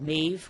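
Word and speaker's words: Medb: first book out is called nave which is spelled M e dB it's an Irish name of course and some people said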